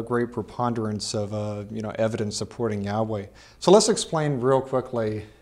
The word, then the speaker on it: Yahweh: And I said that the way we pronounce the name Yahweh, is that right?